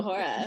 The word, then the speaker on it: majora: So majora. That's fun. Yeah. It's a little more fun to say. It's got a little more like to it. Yeah. Roll your R.